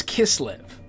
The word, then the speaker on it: Kislev: i've found out because i've been saying it from memory kiss live it's kiss live oh that's the eighth